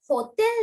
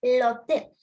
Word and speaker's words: hôtel: So when the letter H stays alone, it is never pronounced. It's l'hôtel. Hotel නෙවෙයි. මේ H එක අපි pronounce කරන්න. It's l'hôtel because H is alone.